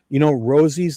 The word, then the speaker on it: Rozzi: So first of all, before I go any further, Rosie's like the rose.